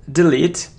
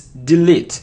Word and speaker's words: delete: So it isn't delete. It's delete, E, delete. It isn't hate, hate, or hate, it's height, height.